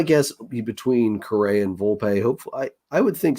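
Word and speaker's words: Volpe: pleasantly surprised that uh vulp showed I'm is it vulp or is it vulpe I think it's vulpe okay it does have an accent on the E so my apologies there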